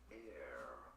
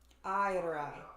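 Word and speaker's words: Éire: In English, it is normally pronounced as air. Air. However, in Irish, in Ireland, it is said as Ira.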